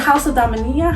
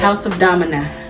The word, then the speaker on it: House of Domina: I'm here at the is it House of Dominia? How do you say it? House of Domina.